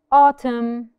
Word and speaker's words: autumn: um column that's it autumn Autumn so the N is silent Ashen is silent very